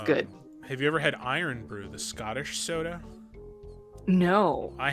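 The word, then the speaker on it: Irn-Bru: i've heard of it i thought it was pronounced like earn fruit so it's spelled like urn brew but i think it's yeah i mean the scottish accent they call it iron iron brew okay cool i would try it definitely that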